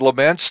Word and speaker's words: Lemense: Hi, your 20-minute podcast continues with our special guest today, Todd Laments. Did I pronounce that right?